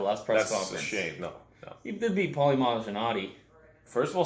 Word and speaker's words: Malignaggi: press office JB Paulie Malignaggi first of all say his name right now mahadji the guy gets his